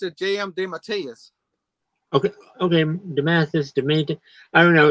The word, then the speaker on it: DeMatteis: And well, I always pronounce it J.M. DeMatteis.